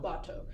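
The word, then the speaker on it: Batou: Bato.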